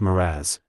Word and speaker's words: mirage: he added mere age and marriage Mirage is pronounced moraz said valency shortly picking up her tea and